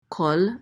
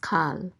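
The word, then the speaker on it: כֹּל: like a Nelson so this is Cole Cole Cole means all okay so this word will never be pronounced Cal it over always be pronounced Cole Cole and it means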